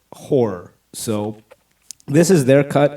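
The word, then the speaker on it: HO99O9: from a band called h09909 but they pronounce it horror so this is their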